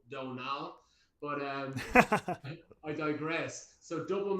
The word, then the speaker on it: Donal: And then my name is like Donal, which is a weird Irish name. Another Simpsons thing. A lot of people can't pronounce Donal, so I'll often say it's like Homer Simpson says Donal.